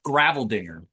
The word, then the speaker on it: Greiveldinger: I'm told it's Graveldinger, but Oh, I always feel that this doesn't sound right. It should be an Gra, but it's right. Grei, Graveldinger. Were you ever in the military?